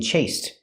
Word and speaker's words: chased: The ED is pronounced with a T in chased. Chased you. It's a stop T.